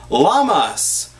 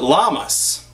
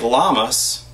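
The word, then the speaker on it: Lammas: I call it llamas, not like llamas. Where's my llamas? Here's my llamas. They're not llamas like this. It's spelled L A M M A S.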